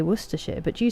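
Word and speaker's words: Worcestershire: How is worshshire pronounced? Worershir. So like worshshire and uh then the city is Worcester and Leester as well.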